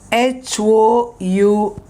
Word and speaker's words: hours: you see it is h-o-u-r-s okay hours it is hours h silent it's only this o-u-r-s